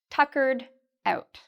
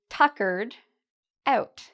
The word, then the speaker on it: tuckered out: Eduardo is tuckered out. Tuckered out. So notice the stress. I'm tuckered out. The stress is actually in the first part. Tuckered. And the ed here is pronounced like a d sound.